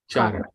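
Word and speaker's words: Cāraṇas: Charanas. Yeah. Charanas. Okay. Yeah. This is Sanskrit transliteration. So C is pronounced as Cha.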